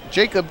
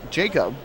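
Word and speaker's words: Yeicok: Well, he says that his name is pronounced Jacob Calderon, but it is spelled Y-E-I-C-O-K. Y-E-I-C-O-K, but he says it is pronounced Jacob.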